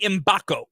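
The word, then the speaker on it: Mgbako: I'm probably gonna Mackenzie imbacco that's what that's how you pronounce it the g is silent okay he is another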